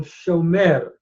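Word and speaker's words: שׁוֹמֵר: we have the participle shomer. And if you'll notice, in that participle, you have a cholam followed by a tsere, a long O vowel, a cholam, shomer, followed by a tsere.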